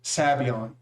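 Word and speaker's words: Sabayon: i can't remember why but i actually like sabion better than fedora for whatever reason that was but um now just in case anyone tries to correct you right here typically people pronounce it savion but here's the thing okay see here's the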